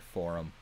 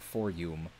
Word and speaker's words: forum: I take massive amounts of issue with how he pronounces the word forum. It is not for-yum. The U is a short... The U is a short U, not a long U.